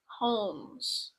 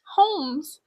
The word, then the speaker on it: Holmes: we're talking about HH holes holes you pronounce the h like that holes you said holes what I was just trying to like a homes homes is a pretty interesting case